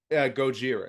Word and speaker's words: Gojira: biased because I'm a Godzilla fan but Godzilla Gojira 1954 I'm gonna is that how you pronounce it Gojira yeah goir okay yep gotcha that is the